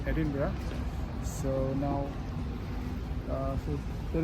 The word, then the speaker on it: Edinburgh: so this is like the the center of Edinburgh uh so before that we are in the City of Edinburgh or Edinburgh this is the capital of Scotland and it's not pronounced as Edinburg it's Edinburgh so now uh so there is the Edinburgh